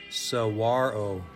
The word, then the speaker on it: saguaro: Getting close to our most famous cactus is pricky, but pronouncing it correctly is tricky. Saguaro.